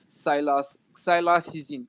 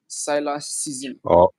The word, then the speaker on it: Cylasszn: handle in all platform is Cylax season, which is spelled CYLASSZN. Cylax season.